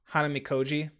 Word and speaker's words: Hanamikoji: Pronounce it again for me. Hanamikoji. Um, Hanamikoji.